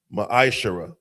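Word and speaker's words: מעשר: Tithe, which is a commandment, book of numbers 18 21, book of Malachi 3 8-10 means 10th in the Hebrew, it's pronounced maisher.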